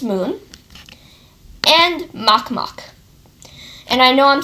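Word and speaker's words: Makemake: are Pluto of course Sharon its moon and mock mock and I know I'm spelling it make me it's called it's pronounced mock mock okay um yes unfortunately this system will let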